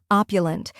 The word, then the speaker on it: opulent: First, we have op, which sounds like op in stop.